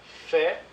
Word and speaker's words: fait: Pour la prononciation du verbe faire, on ne prononce pas le S et le T. Donc, fait, faisons, faites, font.